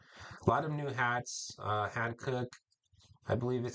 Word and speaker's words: Hankook: A lot of new hats, Hankook, I believe is how you pronounce it, tire brand.